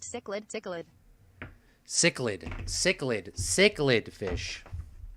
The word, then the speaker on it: cichlid: i don't know guys it's pronounced sick lid okay let's see what google says or my translator just realm it's pronounced cichlid cichlid cichlid cichlid cichlid